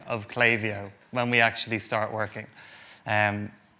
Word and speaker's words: Klaviyo: The very first thing when we actually start working at Klaviyo is we learn how to pronounce Klaviyo. I guarantee if any of you read it, you will all go, Klaviyo?